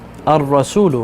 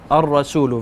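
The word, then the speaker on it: الرسول: Ar-Rasulu, right? So I skip the lam. Ar-Rasulu, very good.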